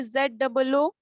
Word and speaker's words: zoo: अब देखो उसमें से दूसरा एक और एग्जांपल दे रहे हैं, इसको क्या प्रोनाउंस करेंगे? ZOO, Zoo.